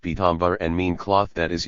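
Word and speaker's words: पीताम्बर: Pita and Ambara combined by way of Sandhi are pronounced Pitambar and mean cloth that is yellow.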